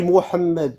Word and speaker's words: Mohammed: On dit Mohammed. Bon, on va dire Mahom. Écoute, non mais tu vas pas nous expliquer comment prononcer. Il faut qu'on fasse les prononcer Mohamed.